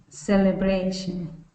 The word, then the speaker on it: celebration: So let's do bray, bray. Celebration. Okay, so let's kind of just say that bray sound. So say this for me. Bray, Bray. bray. Bray. Good. Celebration. Celebration. There you go. Good. Let's do it again. Celebration. Celebration. So now let's put it all together. Celebration.